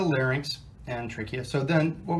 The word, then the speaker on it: larynx: here's the larynx again incidentally for those of you that say lair Nix you're saying it wrong but this is the larynx and trachea so then